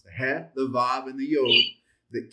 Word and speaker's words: het: That's the che, which is the ha, ha, ha. This is the one where you ought to be getting spots on your screen and people want to stand back from you when you pronounce it because the spit's coming out. Ha, het, het. That's the het sound.